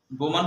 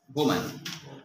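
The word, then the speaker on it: Bowman: যে দেখতে পান প্রথম হলো ফন্টানা প্রথম দেখতে পান, আর হচ্ছে বোম্যান হলো এর নামকরণ করেন। নামটা কেমন না, বোম্যান, কিন্তু আসলে ইংরেজিতে যদি আমরা উচ্চারণ করি তাহলে কিন্তু বৌম্যান হয়।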